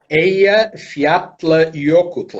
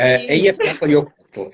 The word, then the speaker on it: Eyjafjallajökull: sei, não sei pronunciar. É muito Ok. K, muito J, muito... Ok, é Eyjafjallajökull. É fácil. Sim. Eyjafjallajökull.